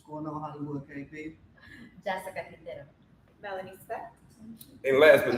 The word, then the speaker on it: Quintero: "My name is Jessica Quintero, Yes. and if you can't say it, just ask me how to pronounce it, and I'll help."